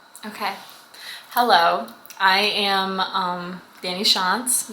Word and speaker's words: Tschantz: I am Dani Tschantz. Yes, the T is silent.